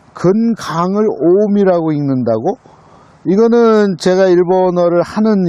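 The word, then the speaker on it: 近江: 그 근강을 오미라고 읽는다고? 이거는 제가 일본어를 하는 입장에서 처음 보는 거였거든요. 강을 미라고 읽는다고?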